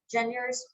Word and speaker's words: genres: Genres, how do you pronounce that?